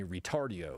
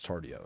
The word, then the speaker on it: Tardio: They call me Retardio when really it's Tardio.